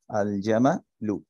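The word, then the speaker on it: الجمل: লাগাই তাহলে কি হবে আল জামালু তাইলে আলটাকে আমরা উচ্চারণ করব আলজামালুম আচ্ছা এরপর দেখি হা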